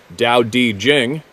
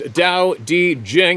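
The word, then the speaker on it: Tao Te Ching: man of the forest The Tao tea Chang States pronounced Dao di Jing there we go again why don't they spell it the way it says it sounds kidding pronounced Dao D Jing and I am paraphrasing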